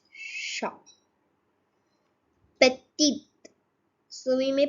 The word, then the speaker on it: petit: The last consonant in a word is not pronounced. So it's short. It's short. Petite. So we may pronounce it as petite, but it is petit.